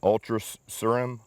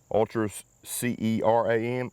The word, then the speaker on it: Ultra Ceram: or the way the filter system's built, the Ultra Ceram, Ultra C-E-R-A-M, Ultra Ceram.